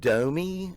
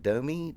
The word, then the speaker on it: DOMi: We're going to be watching JD Beck, and he's going to be playing with DOMi, I guess is how you say it, DOMi, D-O-M-I.